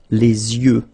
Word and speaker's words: les yeux: and then the plural, les yeux. Okay, you make this liaison between the two. Les yeux. Okay, final X not pronounced.